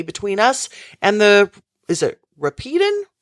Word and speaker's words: Rapidan: He will throw his whole army between us and is it Rapidan? Rapidan. Rapidan. Okay. I want to make sure Yes. I pronounce that correctly.